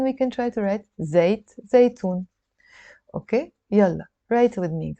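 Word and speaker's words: زيتون: Okay, so that's zaitoon, olives. And by the way, zaitoon is olive oil. So let's write zaitoon a couple of times, and then we can try to write zaitoon.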